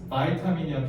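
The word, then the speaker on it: vitamin: 바이타민이야. 비타민 하지만 바이타민 알겠지?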